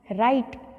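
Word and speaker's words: write: जैसे फर्स्ट है rack, rap, राइट, रिस्ट, रिंकल, wrong. तो यहाँ पर स्पेलिंग में डब्ल्यू तो लगा हुआ है लेकिन डब्ल्यू को हम रीड नहीं करते हैं.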